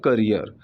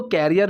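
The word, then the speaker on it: career: सो I sacrificed my जॉब, माई करियर। अब इसको कैरियर नहीं बोलेंगे, इसकी प्रोनाउंसिएशन पे भी आप ध्यान दीजिएगा, काफ़ी लोग इसको कैरियर बोलते हैं, कैरियर नहीं बोलेंगे, इसको करियर बोलेंगे।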